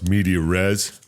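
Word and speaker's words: medias res: know it's a good one when it starts medeor res right that's the right way to say that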